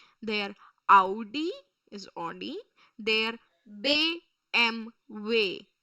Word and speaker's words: BMW: German car brand so we are supposed to pronounce it in their way their Audi is AI they b m way b m way they b m way they